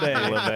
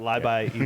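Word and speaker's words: Labay: Yeah, It is Libi, not LeBay. Not LeBay. I jacked that up. Good catch. My son actually told me that, and I screwed that up. So my bad. The Libi Eagles.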